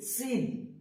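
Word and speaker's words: س: সময় আমরা খেয়াল রাখব সিন যখন বলব তখন খেয়াল রাখতে হবে যে এটাতেও একটা সিটি হবে সিন সিন তারপর হচ্ছেশিন সিন হচ্ছে সিটি হবে এবংশিন যেটা সেটাতে কোন সিটি বাচবে না এটা হবেশিন তালে দীর্ঘ তালে দীর্ঘ দিয়ে হবেন আর দন্ত সিটি হবেন এটাতে সিটি হবে আর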